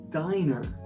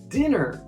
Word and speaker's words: diner: Notice that it's not dinner, which means like usual, right? Dinner is with two N's whereas diner only has one N because the E then we know will make sure the I becomes a long sound.